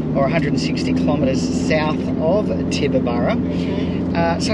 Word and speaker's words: Tibooburra: We're going to Tibooburra. Excellent. Very good pronunciation, mate.